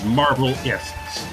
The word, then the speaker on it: Marvelists: Yeah, Marvelists. Like scientists.